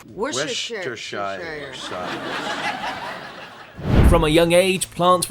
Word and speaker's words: Worcestershire: place mostly known for its sauce and difficult pronunciation. Worcestershire.